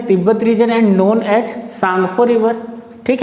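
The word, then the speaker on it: Tsangpo: इसमें जो टी होता है वो साइलेंट है। लगभग चाइनीज लैंग्वेज या जापानी लैंग्वेज में आप देखेंगे तो टी आपको साइलेंट मिलेगा। जैसे आप सुनामी सुने होंगे, सुनामी में टी साइलेंट होता है जबकि स्पेलिंग TSUNAMI होती है।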